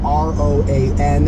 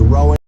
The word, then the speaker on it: Roan: It is spelled R-O-A-N. I assumed Roan. It is Rowan.